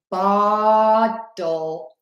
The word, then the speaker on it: bottle: So you can see I'm opening my mouth more for bottle, and then butter, it's more closed. Here's another tip for that L and E. You want to say an O at the end of that word.